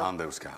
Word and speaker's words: Andevská: Správne som to povedal, tvrdo, áno, áno, tvrdo. pretože tam sú predkovia, teda otec. Ktorý pochádza z Macedónska. Tak tam je An... Takže tam sa vyslo- vyslovuje tvrdo. Andevská, áno.